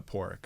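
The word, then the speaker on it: Pádraic: is short for Patrick because Patrick in Irish is spelled with a d what is it p a d r a i c Irish it's uh poric yeah so would that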